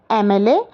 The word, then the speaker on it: MLA: का प्रयोग करना था, हमने एन लिखा है क्योंकि एम कॉन्सोनेंट होते हुए भी इसका साउंड देखिए आप, ए आ रहा है ए, और ए का जहाँ साउंड आता है वहाँ पर हम आर्टिकल एन लगाते हैं।